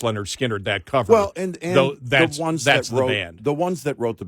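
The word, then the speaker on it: Lynyrd Skynyrd: would say okay the people that are on pronounced Leonard skinnard that cover that wrote the ones that wrote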